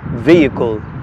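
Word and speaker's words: vehicle: والنطق الصحيح مره اخرى الكلمه الثانيه بمعنى عربه تنطق فيكل الاش سنت في منتصف الكلمه الكلمه الثالثه بمعنى مراهقه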